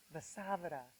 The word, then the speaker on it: Vasavada: So what is the correct pronunciation? So Vasavada.